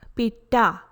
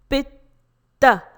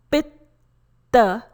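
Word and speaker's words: पित्त: Pronunciation is not Pitta. It is not Pitta. It is Pitta. Please note the pronunciation for letter T. It's soft dental sound T. Pitta.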